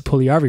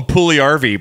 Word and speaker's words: Puljujärvi: It's a soft J. Yeah. Yes. Yes. Of course. See? Now, there's no hard J's. You need this. Well, we'll call him Puljujärvi, but then call him Jesse.